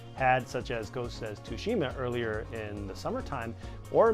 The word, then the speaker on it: Tsushima: so go step to go sakushima Tsushima to Chima I don't know it's got a silent T in there G ot is a